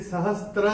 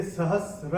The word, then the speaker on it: सहस्र: है ध्यान रखिएगा यह जो है यह sahasrayshu यह सहस्त्र नहीं है ये सहस्र है तो जैसे सहस्र